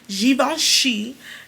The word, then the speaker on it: Givenchy: Givenchy Linter de Rouge, okay?